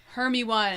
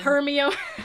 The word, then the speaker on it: Hermione: Except he says her name wrong. Hermi-Wan. Hermione. Hermione. Hermione.